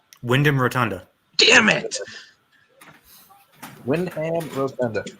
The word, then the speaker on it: Rotunda: Windham Rotunda. I almost said Rotundo, and I was like, wait, no.